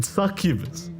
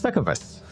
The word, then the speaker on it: succubus: suck you suck you you've got to pronounce the U JN you've really got to pronounce suck of us suck of us it's